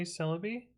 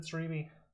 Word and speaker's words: Celebi: How do you say Celebi? Well, this is not, I mean, this is in Japanese. I don't know how to pronounce it properly though. I said Cerebi. Oh, wrong.